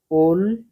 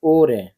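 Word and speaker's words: 올해: নিয়ন মানে হচ্ছে গত বছর এবার পরে এটার উচ্চারণটা হবে ওল ওল হ্যাঁ হ্যাঁ কিন্তু উচ্চারণটা হবে ওরে এভাবে উচ্চারণ করতে হবে ওরে ওরে মানে এই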